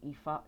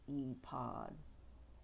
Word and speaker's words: ephod: The eod the e the eod or ephod eod. I don't know how to pronounce it, but it's E pod. E P H O D. Like iPad.